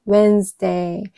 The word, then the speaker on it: Wednesday: Wednesday. 그러면은 여기서 묵음은 무엇일까요? 당연히 d는 발음이 나지 않죠. 여기가 발음이 되지 않네요. Wednesday. Wednesday. 그렇게 되면은 여기 나온 D가 발음이 되지 않는 겁니다. 그래서 음절은 이음절이에요.